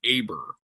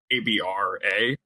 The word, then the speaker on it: Abraham: Instead of being pronounced ABER, which is like the incorrect spelling and like an incorrect spelling incorrect. It's ABRA, but I would always just